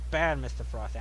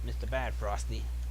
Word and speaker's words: Bad Mr. Frosty: Okay, so it's pronounced Bad Mr. Frosty. I don't know why I call it Mr. Bad Frosty.